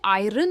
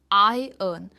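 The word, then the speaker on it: iron: हम इसे आयरन नहीं कहते। यह है आई अर्न। और यह जो बोल्ड में है इस पर हम स्ट्रेस देते हैं।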